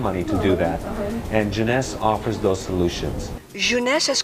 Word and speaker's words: Jeunesse: this business just to say the word Jeunesse some people say Genesis you know they can't pronounce it but even after six